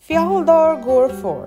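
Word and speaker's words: Fjaðrárgljúfur: Fjalldur Gorfor, that's how এই জায়গাটার নাম উচ্চারণ করা হয়।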